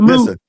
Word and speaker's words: Moot: Mr. No, no, no, no, no. You said it right the first time. The first time you said moot and then you said.